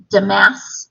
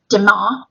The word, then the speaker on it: damas: of that weave and i believe pronounce um damas or de ma in french so not the asks that's more uh english this isn't in your